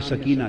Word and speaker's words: سکینہ: جگر شہزادی سیدہ سکینہ، اصل نام ان کا عربی وزن میں سکینہ ہے، عرف عام میں سکینہ چلتا ہے، مگر اصل لفظ سکینہ۔ سیدہ میں عرف عام